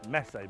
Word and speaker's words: Messe: That building there is Messe Berlin, or Messe Berlin, however you want to pronounce it.